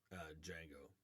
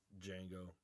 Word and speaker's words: Django: back as Zorro and Django. You know, it would be really cool for Jamie Foxx to tell Antonio Banderas, the D is silent.